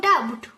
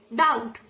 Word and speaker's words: doubt: It is not about doubt, but it's doubt. We call the B letter silent.